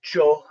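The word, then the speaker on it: Chöd: short introduction to uh joe practice it's usually spelled c h o d the the d is silent and this is a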